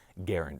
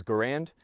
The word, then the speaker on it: Garand: and he asked that his preferred way of his name being pronounced was Garand as in errand so I want to